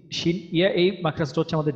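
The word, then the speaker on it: شين: আর শিন যখন উচ্চারণ করবো, শিনটা উচ্চারণের সময় আমাদের মুখ ভর্তি বাতাস থাকবে।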